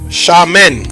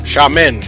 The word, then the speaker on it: Xiamen: how to pronounce it it's sha men xiamen i don't want to